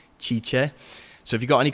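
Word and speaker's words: Cice: Her name is Chicha. She's going to be answering your questions. So you can go and say what's up to her. Her name is spelled C-I-C-E, Chicha.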